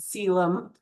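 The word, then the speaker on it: coelom: We call that a cylum. So spelled colum but it's pronounced cylum.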